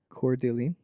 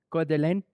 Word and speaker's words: Coeur d'Alene: Coeur d'Alene. Try it again. How would you say it? Try it again. How do you say it? Try it How do you again. say it, French? Coeur d'Alene.